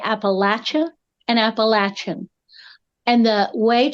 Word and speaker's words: Appalachia: of multiple cultures so in my culture Appalachia and Appalachian are the appropriate way to say those words